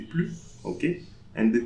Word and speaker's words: plus: Then plus, so the S for plus, we don't pronounce, so we don't say plus, but we say plus.